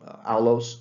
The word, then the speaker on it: aulos: This is a aulos flute. That's spelled A-U-L-O-S.